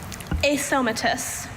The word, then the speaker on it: asomatous: Asomatous. I hope that's spelled like it sounds.